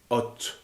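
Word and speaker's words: אות: Signe en hébreu, ça se dit hot. C'est un mot qui s'écrit avec un aleph et un tav, c'est-à-dire la première et la dernière lettre de l'alphabet. Elles sont dans le mot reliées par un vav qui, quand il est à l'intérieur d'un mot, si vous voulez, permet la prononciation O, mais s'il est au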